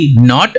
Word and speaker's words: knot: Next example है नॉट, KNOT नॉट और NOT नॉट। दोनों का प्रोनाउंसिएशन साउंड सेम है, नॉट नॉट, बट स्पेलिंग अलग है।